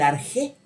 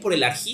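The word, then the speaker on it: ἀρχή: La pregunta por el arjé, ¿no? Por el arjé de la fisis, se suele decir, ¿no? Pero la pregunta por el arjí, según la pronunciación del griego que más les guste, ¿no?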